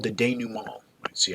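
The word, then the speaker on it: denouement: after the conflict resolves there's what's called the denu mall let's see how it's pronounced day new mall which is where we make sense of the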